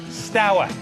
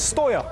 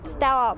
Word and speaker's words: Steaua: acceptable to mangle pronunciations, this team was known as Steaua, rhyming with Toya. Now, of course, we know better. Is it Steaua? Steaua? Steaua. Steaua. Steaua.